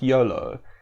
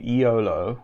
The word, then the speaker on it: Iolo: that i've learned that his name is supposed to be pronounced something like yolo um i've so it's going to be difficult for me to break the habit of calling him iolo with a pronounced i so bear with me